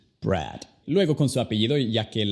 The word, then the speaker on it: Brad: Con la D no toques a los dientes como lo haces en español y también como lo hace Mauricio. No es D, es simplemente Brad.